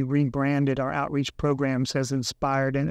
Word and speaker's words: InspirED: credit for that yeah a lot of people uh pronounce it Inspire Ed yeah and it's actually inspired but Inspire Ed is a great version of it obviously yeah we're